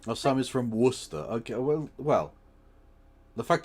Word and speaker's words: Worcester: Oh, Sam is from Worcester. Okay. Well, well, the fact that they pronounce it Worester is enough for me.